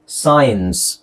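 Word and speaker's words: science: ಸಿ ಗ್ಯಾಪ್ ಬಿಡೋಣ ಎಸ್ ಐ ಇಎನ್ ಸಿ ಇಯನ್ಸ್ ಸೈನ್ಸ್ okay ಸ ಐ ಎನ್ಸ್ ಸೈನ್ಸ್ ಸೈನ್ಸ್ ಸೈನ್ಸ್ very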